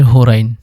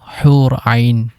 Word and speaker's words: হুর আইন: ৯ নম্বরে রয়েছে হোরাইন, এবং এর আরবি শুদ্ধ উচ্চারণ হলো হুর আইন, যার অর্থ ডাগর চোখের অধিকারী।